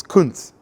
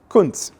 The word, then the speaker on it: Kuntz: It's not pronounced like that, okay? It's Kuntz. Kuntz.